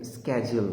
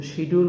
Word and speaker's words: schedule: এই ওয়ার্ডটির উচ্চারণ 2 ধরনের হতে পারে। ওয়ার্ল্ডের প্রনাউন্সিয়েশন হচ্ছে schedule, তবে কানাডার লোকজন একে স্ক্যাজুয়াল বলে, কিন্তু শিডিউল বলা যাবে না।